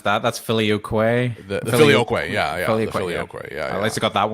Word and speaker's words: filioque: And how do you pronounce that? That's filioque.